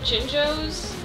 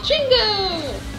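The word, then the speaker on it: Jinjo: call them jingos and I knew they were spelled gingo but I always pronounce them Jingo now hear me out on this when they when you collect one and they all fly away they yell Jingo but it sounded to me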